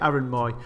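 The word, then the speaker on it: Mooy: So yeah, Aaron Moy.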